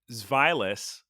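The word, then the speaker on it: Zweilous: so there's Dino so Ein that's one head zvilus which is two zvi and hydragon dry which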